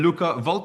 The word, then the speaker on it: Luca Volpe: Luca Vulp. Did I pronounce that correctly?